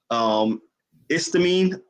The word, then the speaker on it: Estime: Istamine, is that how you say his name? Yeah. He is a beast. I like him a lot. He is a beast. I really, really do like him. Roderick Estime, he's very good.